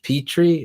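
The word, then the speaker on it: Pitre: running back coach that you're familiar with coach petry is that how you say his name yeah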